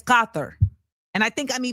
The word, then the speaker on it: Qatar: It's Gothther. And I think I'm I'm trying to get that cuz it's Arabic.